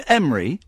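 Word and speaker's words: Emre: Is your name Emry? Yes. Hello Ian. There we go. Do we pronounce that?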